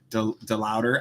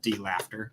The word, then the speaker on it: DeLauder: DeLauder. I spell it in my head, D-Laughter.